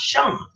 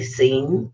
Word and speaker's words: Sean: sound out Connery but I didn't know how to pronounce Sean because well to me it look like saying sing like the sea and then it end so I would say seeing Connery and then as